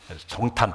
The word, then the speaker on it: 성탄: 우리 성탄하면은 성탄 발음을 잘해야 됩니다. 잘못하면 석탄이 됩니다. 석탄은 석가탄신일, 성탄은 예수님 탄신일.